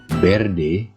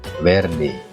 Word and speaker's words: verde: untuk mengucapkannya ya karena huruf P ini pengucapannya itu merupakan gabungan antara huruf c dan b verde biar nih bukan verde atau berde bukan viernes Atau viernes tapi werde biar nih Hai kamu